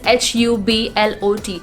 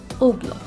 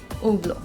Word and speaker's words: Hublot: it is pronounced as oblo the sound of edge is absent in these guys even the sound of t is not there it's simply oblo now this brand is